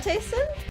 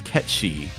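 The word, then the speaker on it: Cait Sith: the actual pronunciation is Ketchi, because it's like Gaelic. Oh. It's not read like regular. It's not read as it would be in English, like Romanized alphabet.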